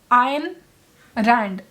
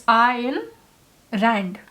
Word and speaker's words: Ayn Rand: But Ayn Rand, I did check up, and it is pronounced Ayn Rand. Like there was a double A, but there is no double A. So it's Ayn Rand.